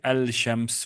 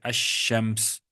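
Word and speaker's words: الشمس: Now, sometimes the lam is silent. It's there, but it's silent. Like, for example, in as-salam or ash-shams, we don't say al-shams, we say ash-shams, for example.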